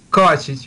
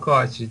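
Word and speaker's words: Kovačić: Pronounce it for me. Yeah. Kovacic, Kovacic.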